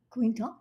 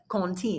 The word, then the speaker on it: Quentin: But if you go back to its origin, which has got French roots to it, the actual pronunciation is? Quinton? No. Quinton? No. Contine.